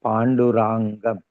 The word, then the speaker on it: Pandurangam: Everywhere it is written Pandurangam, so we will pronounce that way only.